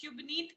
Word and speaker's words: Shubneet: So the H is silent. Yeah. Yeah, but it's have a like whole vocal of H in my name. It's maybe Shubneet. Okay. Yeah, Okay. yeah. Okay. So it is half silent.